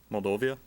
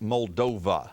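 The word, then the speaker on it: Moldova: Mulovia. I'm sorry, that's a wrong answer. John, any ideas? You added a syllable for me, Matt. It's just Muldova, not Muldovia.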